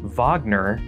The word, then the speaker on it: Wagner: who wagner is or the fact that it's pronounced wagner that is not a reflection on your unchanging